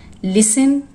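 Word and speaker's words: listen: लिसन, castle, सॉफन, इसमें T silent है।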